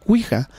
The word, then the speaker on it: ouija: de estas dos palabras, la palabra que es oui, que viene del francés, que es sí, y del alemán, que es ja, sí. ¿Sí? Que pronunciado entonces es ouija.